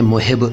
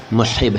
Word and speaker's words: محب: उच्चारण मोहब नहीं बल्कि मसब है मसब लेकिन आपको इस तरह से बोलने की जरूर नहीं है क्योंकि उर्दू में अरबी के अंदाज में नहीं बोला जाता लिहाजा मैं मोहिब का